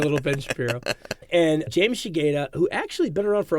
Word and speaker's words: Shigeta: So the first person I chose from Die Hard was James how do you pronounce his name? Shigeta.